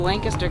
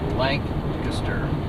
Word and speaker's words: Lancaster: We're now driving through beautiful Lancaster County, Pennsylvania, where there are just beautiful farms everywhere.